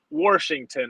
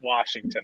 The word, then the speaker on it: Washington: in the state of Washington as we say it here in Pittsburgh others would likely pronounce it Washington I don't see an r on the screen not yet there isn't